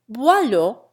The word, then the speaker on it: Boileau: So, too, the the French OI sound is disposed of, and Dubois is pronounced Dubois, and Boileau acquires a first syllable rhyming with toil.